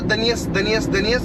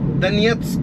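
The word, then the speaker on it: Донецьк: वो दनियस या दनेत्स्क ऐसे कुछ भी बोल देते हैं, वो नहीं है, एक्चुअल प्रोनाउंसिएशन है उस शब्द का दनियत्स्क, ये उसका एक्चुअल प्रोनाउंसिएशन है, जो सही प्रोनाउंसिएशन है।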